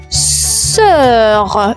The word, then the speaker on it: sœur: On enchaîne avec le mot sœur, sœur, une sœur. Et la sœur s'écrit comme suite S-O-E-U-R. La particularité, le O et le E vont fusionner ensemble comme cœur, sœur.